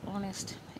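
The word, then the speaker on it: honest: candidate এখানে ইয়ার hour অনেস্ট এদের সবার পূর্বে প্রথম লেটার ছিল এইচ এইচ একটি আমরা জানি কনসোনেন্ট লেটার কিন্তু এখানে এইচ এর উচ্চারণ হয়নি শুরুতে আমরা এয়ার পেয়েছি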